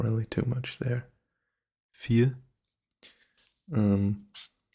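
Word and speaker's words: vier: really too much there fear um treat this v as an F I think that's going to help you with the pronunciation here fear it's sort of like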